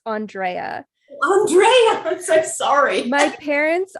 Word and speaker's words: Andrea: the um episode today and including how to pronounce my name it's andrea andreas i'm sorry my parents are extraordinarily pretentious